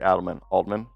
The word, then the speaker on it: Adelman: Aldman, right? Aldman. Now I'm gonna have to read this. The YouTube pronunciation that I saw when they use it said Adelman, Coach Adelman, who's the son of legendary Coach Adelman, Rick Adelman.